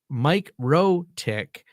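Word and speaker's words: MikroTik: Uh so I a Latvian person uh and there's a debate in their own forums because they say Mike Rotick because that's an American pronunciation. So because they're speaking English, I maybe not American, maybe just a general English pronunciation. There was a post in their forums if you Google this and it says when they're speaking in English, they will say microtick.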